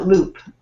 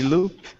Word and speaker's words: LEWWWP: many we tried uh loop is the name of our site uh loop l e w w w p mhm your name you say loop yes we pronounce it in the loop with loop so our site is